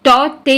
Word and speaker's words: Tauktae: First thing, cyclone टॉटे, इसका pronunciation जो है वो टॉटे होता है, के साइलेंट होता है, राइट।